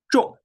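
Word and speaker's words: 众: Yeah, but this one with falling tone or angry tone. So when you pronounce like this, 重, you got the right one. You got the right pronunciation.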